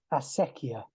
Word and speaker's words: acequia: official pronunciation so uh it's a Spanish word is fasekia and uh it's as it's written in the description of the project actually it's a it's derived from the Arabic word which means water carrier